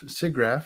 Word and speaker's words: SIGGRAPH: speaking of siggraph seagraph I don't know how to say it I think that's correct I think it depends on where you're located okay so if you're located in is it Vermont Vermont vermonters absolutely say sea graph I've asked many vermonters